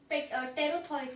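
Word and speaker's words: pterothorax: इसमें जो मीजो और मेटा है, अगर उसमें विंग्स प्रेजेंट है आपके, तो फिर उसको हम लोग टेरोथोरेक्स बोल देते हैं, P साइलेंट, टेरोथोरेक्स, ठीक है।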